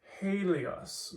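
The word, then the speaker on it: ἥλιος: And in this case, you have helios, because it's ha, rough, ha.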